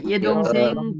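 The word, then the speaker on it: 여동생: य ए होइन कि यदोङसेङ भन्नुपर्छ है।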